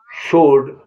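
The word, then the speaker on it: sword: answer माने उत्तर एस डब्लू ओ आर डी सोड सोल्ड माने तलवार और जब आपने ऐसा सीख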